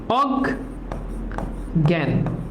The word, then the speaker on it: অজ্ঞান: যেভাবে আছে ওভাবে অজ্ঞান এখন দেখ এটা নেগেটিভ শব্দ না সহজ নেগেটিভ শব্দ হলে কি হবে সরে থাকবে অজ্ঞান অজ্ঞান ওকে অজ্ঞান